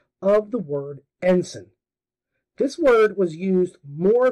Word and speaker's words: ensign: jarring and annoying and he pronounced the word ensign as n signs yep not ensign end signs en and then signs this became my n-word